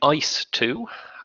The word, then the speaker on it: EIS: that you can and start so yes I pronounce her name ice - and it's a title says a general